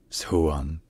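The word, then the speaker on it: 수원: and modern attractions in Korean the city is pronounced suan onean all right if you enjoy learning our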